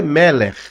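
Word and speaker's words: מֶלֶךְ: Aí vai depender da dicção, mas o correto ele é um rafit e rafit r é arrastado. Então o correto é meler.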